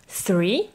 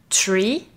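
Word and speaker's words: three: Alors attention à la prononciation du chiffre 3 qui se dit 3 et pas tree, car là tu parles d'un arbre, ou encore moins tree.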